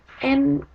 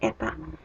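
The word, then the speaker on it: η: Demand elasticity sama dengan N demand. Itu kayak huruf N. Sebenarnya ini tuh dibacanya eta demand.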